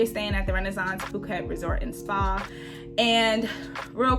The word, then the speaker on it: Phuket: So we are staying at the Renaissance Phuket Resort and Spa.